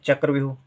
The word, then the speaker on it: चक्रव्यूह: हो गया चक्र व्यूह, आधा वाह, क्योंकि वाह का उच्चारण बहुत कम समय के लिए हो रहा है। व्यू यू या के साथ ऊ का उच्चारण हो रहा है, देर तक हो रहा है तो बड़ी ऊ की मात्रा। व्यूह बाद में हो रहा है हा का उच्चारण, तो हो गया चक्र व्यूह।